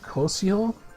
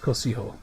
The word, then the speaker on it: Cocijo: you can see uh the last Titan I think is pronounced Koso it's like a all the Titans are named after like storm deities from different cultures and stuff this one I believe is from South America so I think it's pronounced Koso but um I don't know